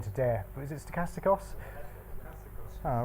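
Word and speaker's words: στοχαστικός: I heard someone pronounce it. I wasn't going to dare. But is it stochastikos?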